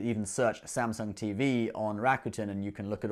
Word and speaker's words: Rakuten: to the site sorry i said it wrong rakuten anyway i'm certainly going to use my 50